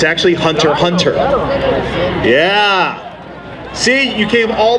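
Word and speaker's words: Hunter × Hunter: that yep it's actually you say hunter hunter you never say the x it's like the queue is silent all right ladies and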